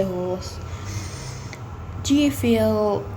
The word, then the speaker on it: Howrse: It's just I prefer to say horse because HOWRSE seems more like a country kind of a thing, you know what I'm saying?